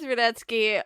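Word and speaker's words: Rudetsky: own work is says Radetzky uh and his deconstructs southern etske deconstructs on YouTube his last name is spelled ru de he s KY we watch out for that T that's the sneaker once I would recommend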